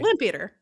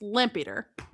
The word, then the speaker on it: Lampeter: Lampeater. Yeah. Yeah. Don't you don't want to like distinguish it. It's lampater. Lampater.